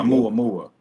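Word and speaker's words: ʻOumuamua: Oumuamua.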